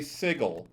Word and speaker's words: sigil: about this subject saying i say sigil with a hard g because that's the correct pronunciation which by and by